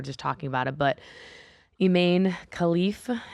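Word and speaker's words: Imane Khelif: talking about it but eain khif is how you pronounce um her name she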